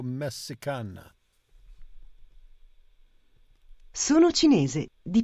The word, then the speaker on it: cinese: It's not the C, it's the CI. CI is pronounced CH. CE is pronounced CH. CHI is pronounced KI.